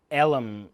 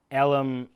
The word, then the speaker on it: elm: down the fence line Ellum his dad said Ellum and also film were two syllables in his father's dialect which was also dying and all the